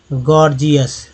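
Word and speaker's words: gorgeous: गया, देखिए गौर, दूसरा पहला जी ग, दूसरा जी ज, दोनों उच्चारण यहाँ पर आपको देख रहे होंगे।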